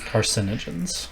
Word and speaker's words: carcinogens: That fire extinguishers are carcinogens. Carcinogens. That's what I said. I was trying not to laugh. Car. You put the accent on the A, not the I.